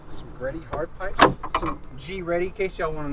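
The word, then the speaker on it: GReddy: Some G Ready, in case y'all want to know, that's how you pronounce it in Japan. G Ready.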